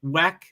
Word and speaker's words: WEC: as excited about that imsa and Thea whack or that's FIA Weck I think is how you pronounce it um is that